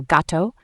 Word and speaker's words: gato: G before A, O, or U is hard, like the G in go. For example, gato.